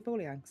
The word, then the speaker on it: Folianx: Tax. Taxi. It's like taxi. Foley. Anx. Oh, in that case, I said it right. Taxi Folianx.